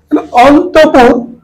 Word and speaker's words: অন্তঃপুর: এখানে বিসর্গ আছে অন্তপুর অন্তঃপুর এখানে বিসর্গ এই শব্দটি যখন লিখবো অন্তর্পুর কিন্তু উচ্চারণ অন্তঃপুর বিসর্গের জন্য র আসে কিন্তু আমরা উচ্চারণ করি অন্তঃপুর তাহলে অন্তপুর কিন্তু অন্তরে